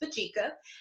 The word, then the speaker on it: Mbadika: So as you can see here, I have my organization's name, and yes, it is spelled that way, Mbadika, that's Mbadika.